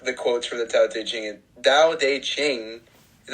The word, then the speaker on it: Tao Te Ching: Yeah, Tao Te Ching.